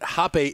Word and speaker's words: Hape: I also found out, she pointed out to me that Hape is a German name. His name is Hape, not Hape. I was pronouncing it wrong.